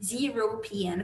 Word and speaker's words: European: Mas quando eu falo European citizen, a gente fala European, eles pronunciam European, como se fosse um som de J, European citizen.